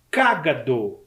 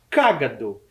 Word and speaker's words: cágado: o nome dele é cágado Observe o assento na primeira sílaba cágado eu tenho certeza que